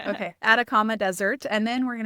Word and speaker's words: Atacama: What is it? The Adakama Desert. Adakama Desert. I keep want to say like Adriak or something like Okay. Atacama Desert.